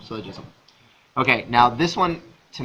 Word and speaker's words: syllogism: i pronounced that correctly silo so syllogism almost like syllable syllogism okay now this one